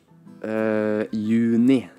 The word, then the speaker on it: juni: Right, and I've noticed that in Norwegian, you oftentimes don't pronounce the J sound, which is, again, difficult to remember.